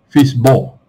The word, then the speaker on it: FSBO: side the for cell by owner so fsbo pronounced as um fist ball it's used mainly overseas are not so much